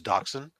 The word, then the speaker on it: dachshund: a mini wiener dog I thought it was called a dash hound or something you might be right you I don't know enough about the proper pronunciation is dachshund but no it's not